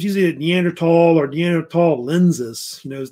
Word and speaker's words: Neanderthal: I would say Neanderthals or Neanderthal humans. Actually, the H is silent. It's Neanderthal, I actually say it.